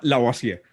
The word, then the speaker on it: Lavoisier: Antoine Lavoisier.